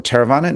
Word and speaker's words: Theravada: Theravada.